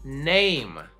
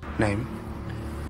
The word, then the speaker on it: name: Name. So we don't necessarily pronounce the E, but it does do something to the vowel before. Name.